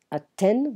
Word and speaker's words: Athènes: Athènes, we don't pronounce the TH in French, it's a T sound.